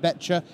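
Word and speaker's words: Boettcher: so congratulations to Jared beter the O is silent he informs me so beter is going to be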